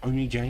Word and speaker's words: Oni J: Oni J, not On J, as many people pronounce him.